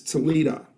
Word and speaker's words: Toledo: And the O's are pronounced as A's, Toledo. So it's University of Toledo if you're from Lucas County.